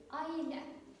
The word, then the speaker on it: ailə: We write, but when we pronounce this word, it is ailə.